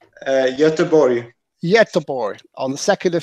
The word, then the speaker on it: Göteborg: Göteborg, is that pronounced correctly? Göteborg.